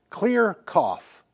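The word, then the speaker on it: CLR CFF: Clear cough, or it's spelled CLRCFF.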